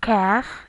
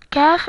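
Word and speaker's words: ك: Qaf is hard, while Kaf is soft. Kaf is like K in English.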